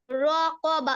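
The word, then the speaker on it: رقبة: আখা আখা জামা জামা রকবা রকবা কফের উচ্চারণটা ঠিক করে কর জিব্বার গোড়া তারপরে র তালের সঙ্গে লাগবে হ্যাঁ রক রক রকবা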